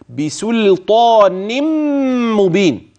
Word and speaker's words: بسلطان مبين: بسلطان ادغمت في الميم فيصير النطق بميم مشدده هكذا بسلطان مبين يعني نون سلطان هتبان انما النون التي سوف تدغم هي نون التنوين فتنبه جميل مبين وهتقف على